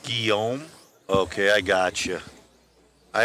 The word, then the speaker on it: Guillaume: It's pronounced Guillaume.